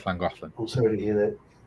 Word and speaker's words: Llangollen: So Llangollen is spelled double L, ANGOLLEN. It's Llangollen.